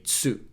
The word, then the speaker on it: つ: Instead of saying tu, we say tsu.